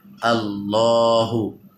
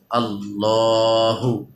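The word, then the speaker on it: اللهُ: ইনশাআল্লাহ আল্লাহু আকবার আল্লাহ প্রথম শব্দ আছে আল্লাহু আল্লাহু লামটা এক খাড়া জবর আছে এক আলিফ টান হবে এবং উচ্চারণটা ল হবে মোটা হবে আল্লাহু আল্লাহ আমার সাথে বলেন আল্লাহু আল্লাহু আল্লাহু মানে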